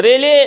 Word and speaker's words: Rayleigh: तो रेले का स्पेलिंग थोड़ा देखिए अलग हटके है, RAYLEIGH, ये रेले पढ़ा जाएगा।